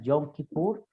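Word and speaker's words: Yom Kippur: leemos en éxodo 16 en el hebreo se pronuncia el yom kipur este la lluvia podemos ver como el sumo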